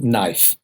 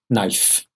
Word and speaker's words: knife: has got a coke can ice but it's pronunciation knife dick is silent knife knife and if if the food and the